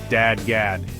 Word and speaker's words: DADGAD: Finally, let's touch on dad gad tuning, pronounced dad gad.